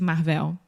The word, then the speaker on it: Marvel: know how to say it's Marvel Marvel yeah it's almost like marble marble is saying yes except with AV Marvel Marvel perfect okay okay